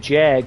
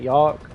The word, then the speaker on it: Jagd: I don't like saying Jag, because that's not how you say it. It's Y, right? Yog. It would be like Y, right? Jagd. Would that not pronounce be Yog, or is that Jag?